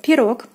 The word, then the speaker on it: пирог: Next we have пирог, пирог, пирог. O is stressed and is pronounced as in the alphabet is O. Пирог, meaning pie.